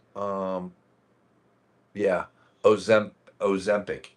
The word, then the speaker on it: Ozempic: I can never pronounce it. Yeah. It's called it's called um yeah, Ozem- Ozempic o z e m p i c.